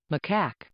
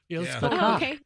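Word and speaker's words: macaque: Here we Let's listen to how you actually pronounce this. And let me bring up the internet here. And here we go. Macak. Okay, that's one way. And then Macak. There you go. Mak. Yep. Hang on. Macock.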